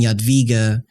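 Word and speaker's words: Jadwiga: um Poland which was the Jita and queen yadviga married the Duke of Lithuania who's Queen how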